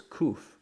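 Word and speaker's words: קוף: this letter here is kouf poof poof it's Cleveland equivalent to kind of a mixture of our queue and our K couth okay so it'll be pronounced as a cook cook alright and kouf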